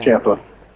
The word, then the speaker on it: Ciampa: So there's not like I guess Champa is the only one. Or what do you? How do you say his name? Because it's not CH, CIA. Yeah. Ciampa, Ciampa with a CH. The CI makes a Okay.